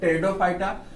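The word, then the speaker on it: Pteridophyta: फिर से देखते हैं, थैलोफाइटा, ब्रायोफाइटा, टेरिडोफाइटा, टेरिडो में पी साइलेंट है, टेरिडोफाइटा, जिम्नोस्पर्म, एंजियोस्पर्म।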